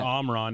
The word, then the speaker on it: Omron: From Omron. Correct. Sometimes pronounced Omron depending on where you're from. Correct. Yeah. Or Omran if you don't have a Michigan an accent.